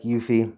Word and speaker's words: UEFI: that go through the you you fee or uefi whichever you want to pronounce i'd like yuffie because it's quicker and just go through